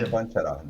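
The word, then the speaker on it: Čvančara: Chevanchera. That's how you pronounce it, Chevanchera.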